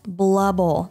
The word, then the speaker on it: blubble: Yes, blubble, not bubble.